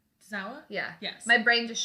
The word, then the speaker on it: Tozawa: not the revival, between DIY and Tajiri and Tozawa. Oh, okay. Is that how you say his name? Tozawa? Yeah. Yes. My brain just shut it, like, for a second. I was like, it's Tozawa, right?